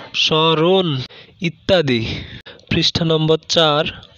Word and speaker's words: স্মরণ: দুই নম্বরে, কোনো শব্দের প্রথম বর্ণে মফলা যুক্ত হলে মফলা অনুচ্চারিত থাকে এবং কিছুটা নাসিক্য রূপে উচ্চারিত হয়, যেমন শ্মশান, শ্মশান, স্মরণ, স্মরণ ইত্যাদি।